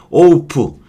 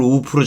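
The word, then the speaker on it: oaf: 홈커밍 OPC 우둔한 바보의 그런 건데 오프 제가 이걸 참에 발음을 우프로 잘못 배워갖고 또 한참 애들한테 욕을 먹었겠죠? 제가 발음을 틀리게 했을 테니까.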